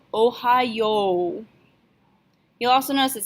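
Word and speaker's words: おはよう: good morning greetings so the informal version is Ohio Ohio even though it's spelled with a y.o.u at the end we're still going to pronounce it like it's just an O sound Ohio you'll also notice it sounds an awful lot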